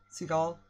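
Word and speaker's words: Segel: Jason Seagull. Yes, that one. That's what I said. Seagull. Seagull. Seagull. Okay. Is that how you pronounce it?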